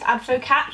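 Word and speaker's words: adwokat: I think they pronounce their W's as V's. Advocat.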